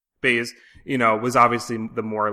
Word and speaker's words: Baze: And then Baz, right? Baz? Am I saying it right? Bees, yeah. Baze, was obviously the more like, hard-headed, not hard-headed, but cynical, right?